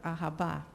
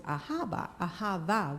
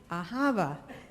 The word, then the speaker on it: ahava: So when I looked it up, it was ahava with a V. So when I saw Mamie, by then she wasn't really awake all the time, but we were still talking, and I told her, we've been mispronouncing our sign-off. It's really ahava.